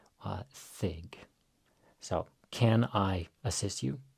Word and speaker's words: þig: Here we have the thorn, which is devoiced. So it's like thunder, thig.